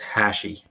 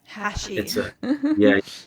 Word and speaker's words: Hachey: It just, my last name is pronounced Hachey. Hachey. It's a French name. It's been Anglicized, but it is a French origin.